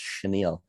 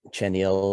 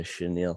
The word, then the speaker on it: chenille: fuzzy swoosh which i've learned this morning is pronounced chenille not chenille or chenille or chinchilla or anything like that but uh chenille so that is what we have that is